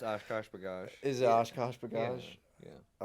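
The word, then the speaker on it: OshKosh B'gosh: Is it Oshkosh Bagosh?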